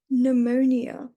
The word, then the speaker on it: pneumonia: with a P, but the P is not pronounced and it's what we call a silent P. We don't pronounce the P and that's why it's pneumonia.